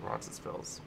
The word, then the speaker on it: Roncesvalles: I say the S. I pronounce it Roncesvalles.